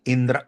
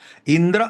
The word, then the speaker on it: इंद्र: लॉ है दोस्तों ये इंदिरा Soni इंद्र Soni versus union of India pronunciation ठीक से कीजिए इंदिरा नहीं है इंदिरा है इंद्र सोनी है ये आदमी है इंदिरा बोले तो प्रियदर्शनी